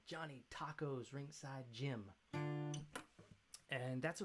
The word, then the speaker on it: Tocco: Trained there with Johnny Tocco, whose name is actually pronounced Tocco. It's Tocco, nice Italian name.